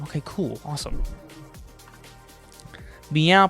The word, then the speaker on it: MEOVV: Their name stands for my eyes open wide, but the double V is obviously representing a W.